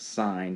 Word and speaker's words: sine: hypotenuse is called sine it's spelled abbreviated SI n but it's pronounced sine spelled si n e